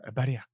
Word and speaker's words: Bariacco: As always, Bariacco. And? Angie. I like that you went extra Italian for the Irish episode. That's how you pronounce it, so I figured I got to be nationalist.